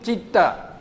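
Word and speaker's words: citta: So CIT you pronounce chit. No, chitta.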